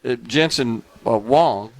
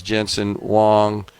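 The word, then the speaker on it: Jensen Huang: But he uh he pointed out that Jensen Wong the some people pronounce it Wang, some people pronounce it Wong, H U N G.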